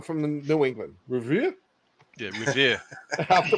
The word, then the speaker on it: Revere: Yeah, Revere. I have to pronounce it correctly.